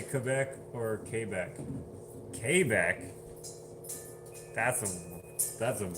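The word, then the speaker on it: Québec: The accent is on the E. For Quebec. For Quebec. Quebec! Like I said, I'm AT, which is French Canadian. I say Quebec, not Quebec.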